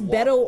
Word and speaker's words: Beto: That's Beto O'Rourke from Texas.